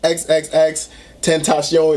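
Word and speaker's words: XXXTentacion: I always liked XXX Tentacion, that's how you say his name.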